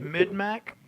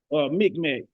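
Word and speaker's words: Mi'kmaq: Mid-Mac? Micmac, yeah.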